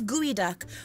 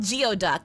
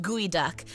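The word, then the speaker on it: geoduck: weird pronunciation like guy it should be called geod duck but it's pronounced guoy duck it should be pronounced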